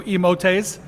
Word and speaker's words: emotes: my new emotes or as aaron the error likes to say my new emotes and he's mexican so i'm going with with aaron's uh pronunciation and it rhymes with elote which is what i